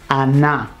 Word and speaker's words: annà: Like in Neapolitan and most Italian southern dialects the n d becomes n n. We can see this consonant assimilation in andare becoming anna.